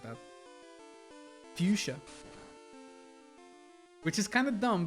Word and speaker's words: Fuchsia: How did you just say Fuchsia?